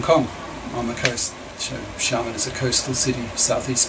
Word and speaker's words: Xiamen: still live in is Xiamen, which that's X-I-A. X-I in Chinese is a sh sound, so Xiamen, M-E-N.